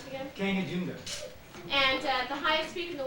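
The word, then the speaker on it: Kangchenjunga: in India and so mram how do you pronounce it again Kang junga and highest speak in the world is not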